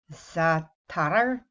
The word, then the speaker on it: za'atar: word, and I looked it up how to pronounce it. It's an Arabic word. It's olive za'atar.